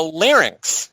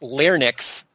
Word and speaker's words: larynx: a capitalized brand name the larynx mispronounced larnix by donnie most is another name for